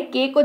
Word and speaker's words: cake: again यहां पर देख सकते हैं आप ए के एक लिखा हुआ है, उसके बाद एक अक्षर के को छोड़कर ई है हमारे पास, तो ये उच्चारण ऐसे हो गया केक, यानी कि केक का